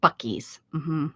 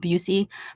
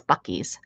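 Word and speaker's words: Buc-ee's: u c e s bies that's how you say it some people people call it buy but it it's bies uhhuh I think the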